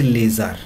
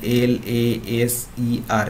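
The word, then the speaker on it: LASER: যখন অ্যাব্রিভিয়েশন করছি, কিন্তু এখানে দেখো আমরা বলছি লেজার, এখানে কিন্তু বলছি না এল এ এস ই আর, এরকম কিন্তু বলছি না।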